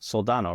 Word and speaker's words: Soldano: Soldano, right?